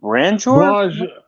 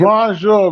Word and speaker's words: Bonjour: Branjor? Yo, you're a funny dude, bro. We went through this the last time. It's Bonjour, bro. It's Bonjour.